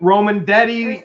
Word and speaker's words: Romandetti: From Christine Romandetti. Christine. whose name rhymes with spaghetti.